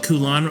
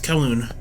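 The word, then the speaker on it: Kowloon: I keep calling it Koolon. I probably might I'm probably still going to accidentally call it Koulan, but well, it is Koon. Yes, it's Koon.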